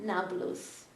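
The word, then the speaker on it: Nablus: city next to called neopolis but the Arabs cannot pronounce p so neopolis became naus it's another example kibud Alpha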